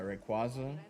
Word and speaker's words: Rayquaza: They made the official pronunciation of of these Pokemon, and it is Ray Quaza, which I hate. I prefer Rayquaza. It makes more sense.